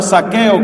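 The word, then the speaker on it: Zaqueo: Estamos hablando de un hombre llamado Saqueo, que se escribe con Z.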